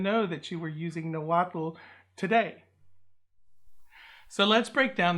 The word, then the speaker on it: Nahuatl: in Nahuatl, is actually, I'm overpronouncing that L. It's almost a silent L. It's Nahuatl, and it's almost like a little puff of air on the side of your tongue there.